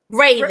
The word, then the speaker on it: Raven: Am I saying the name right? Ravon or Ravon? Ravon? Raven. It's Okay. Raven. Yeah. Raven. And I think I said it right the first time.